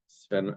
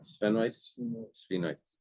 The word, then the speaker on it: sphenoid: Paretal parietal parietal I don't parietal and the temporal or maybe it's where it connects with the spenoid sphenoid sphenoid parietal with the sphenoid would be the where connects.